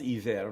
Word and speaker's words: Iver: And and it's pronounced Eaver, but they do have the H on it.